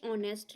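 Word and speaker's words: honest: है सही इसे दास ऑनेस्ट लेडी अब यहां पे ऑनेस्ट है यहां पे सबको पता है की हा जो है साइलेंट होता है बाद में ओ ए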